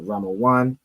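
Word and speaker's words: רימון: So Rammaan is how you'd say pomegranate.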